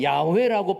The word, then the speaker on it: 야훼: 그래서 야훼라고 발음해야 된다는 그런 학자들도 있고 여호와라고 발음해야 한다고도 말하는데 의견이 분분하죠.